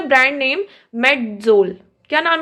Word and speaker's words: Medzol: अब जो पहली कंपनी यूज करती है उन्होंने क्या लिखा है, MEDZOL, इसको भी हम प्रोनाउंस करेंगे मेडजोल।